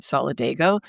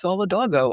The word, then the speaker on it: Solidago: In this case, I always had said solidgo until I started listening to you on that podcast recording. And I'm like, oh, maybe it's Solidago.